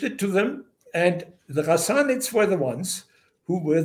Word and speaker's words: Ghassanids: It's like, it's not a sound you have in the English language. Yeah. But you pronounce it way deep, like the French would pronounce their Ghassanids. Ghassanids.